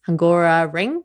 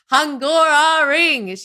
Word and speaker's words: Hungaroring: over in the Hungaroring, which is Hungara Ring, which is come on, pronounce it properly. Sorry, I should be saying. I know this is way too simple and understated for everybody involved. Hungaroring.